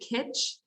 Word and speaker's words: kitsch: Everybody's got something quiche in their house. I don't think I'm saying it right. Absolutely. Is it kitsch? I'm saying quiche, like it's an egg I think it's souffle.